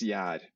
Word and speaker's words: gjær: So I'm just wondering, what's the actual proper pronunciation? Okay, so the general Norwegian word for yeast is gjær.